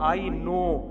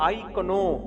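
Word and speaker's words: know: मैं आपसे कहूं कि इंग्लिश में एक प्रोफेसर ने कहा आई नो और एक ने कहा आई कनो अबे के लिखा जाए ना लिखा जाए साइलेंट ही होगा हमेशा तो बुखारी में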